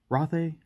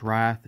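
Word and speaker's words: Rathe: uh welcome to rothe roth a wrath i've been told that it's not pronounced wrath it's i i think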